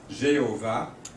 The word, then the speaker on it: Jéhovah: Et finalement, 3 voyelles ont été combinées avec les consonnes YHWH pour nous donner Yahowa, ou prononcer des fois Jéhovah en français, on prononce Jéhovah.